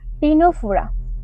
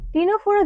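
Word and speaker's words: Ctenophora: Next আছে তোমার টিনোফোরা। টিনোফোরা জিনিসটা কি? আচ্ছা, টিনোফোরা ইংলিশ টার্মটা দেখো আগে কিন্তু সি রয়েছে, যেমন নিউমোনিয়া ক্ষেত্রে উচ্চারণটা হয়ে থাকে, তেমন টিনোফোরার ক্ষেত্রেও আগে কিন্তু তোমার সি রয়েছে, এটা কিন্তু একটু খেয়াল করবে।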